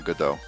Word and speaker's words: Godot: good oh pronounced i it's from the uh waiting for godot play i believe it's a french fly so i always try to pronounce it with the as if a french person were saying good though but though oh